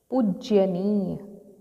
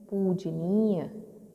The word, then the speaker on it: पूजनीय: तो आपको समझ आ गया कि हम पूज्यनीय तो नहीं बोलते, पूजनीय बोलते हैं।